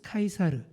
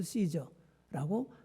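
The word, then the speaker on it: Caesar: 이 사람 정식 이름이 가이우스 율리우스 카이사르, 이게 라틴어인데요. 영어식 발음으로는 줄리어스 시저라고 하는 인물입니다. 다들 들어보셨을 거예요. 저도 중고등학교 시절 때 케사르라고 배웠습니다.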